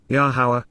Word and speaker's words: Yahowah: appreciation and gratitude to yahwah yahwah the proper pronunciation of the name of eloah God has